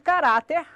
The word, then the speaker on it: caráter: No caso da palavra caráter, sílaba tônica de caráter, ra.